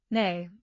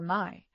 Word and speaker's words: Mai: Nay, instead of the proper Mai.